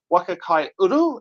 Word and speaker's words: Waka Kai Uru: But we're here today with the uh Waka Kai Uru.